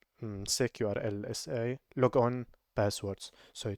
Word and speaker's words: sekurlsa: I don't know how people pronounce this secur secur uh many people just say s e k url sa however I I prefer sec urls sa lo on passwords so